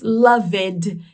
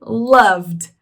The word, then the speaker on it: loved: Reparem aqui na pronúncia que a gente não diz a letra E, a gente não diz loved, e sim loved, loved.